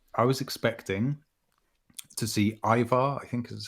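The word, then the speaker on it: Eivor: I mean, I just think when I heard those words, gameplay reveal, I was expecting to see Ivar, I think is how you say it. Yeah, Ivar, yeah.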